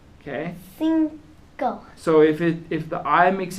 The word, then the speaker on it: cinco: But in Spanish, the I makes an E sound. Okay? Cinco.